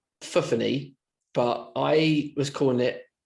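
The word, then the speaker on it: Fofanny: Now it's pronounced Fuffany, but I was calling it Fofani.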